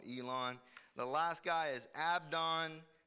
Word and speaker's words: Abdon: the last guy is abdon technically his name is pronounced with a V of Don he is